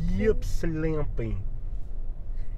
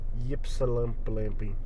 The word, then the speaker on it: Ypsilanti: Watch. Ypsilanti. There's only one P, and it's at the beginning. Pipsapampi. Ypsilanti.